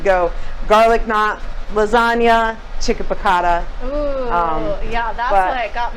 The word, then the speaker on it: piccata: Am I pronouncing that correctly? Yep, piccata.